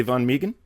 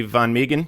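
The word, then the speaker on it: Van Meghan: speak to sheriff uh von meegan please deputy von migan i don't believe he's working right now but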